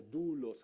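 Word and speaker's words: δοῦλος: es la palabra se se escribe doulos y se pronuncia como dulos algo así pero digamos es doulos significa esclavo con gusto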